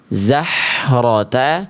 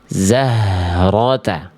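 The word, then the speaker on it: زهرة: Enggak kita baca zahrota, tapi kita baca di dalam zahrata.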